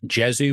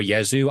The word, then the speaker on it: Jesu: I don't know if they're supposed to be pronounced Jezu or Yzu. I've always thought it's Yzu, even though it's J E Su.